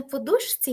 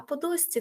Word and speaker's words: подушці: наступне розкіш і подусці бачите навіть не подушці я вимовила а подусці Тобто це асиміляція за місм та способом творення тобто під час вимови звуки змінюються і це просто потрібно завчити це знаєш отой слайдик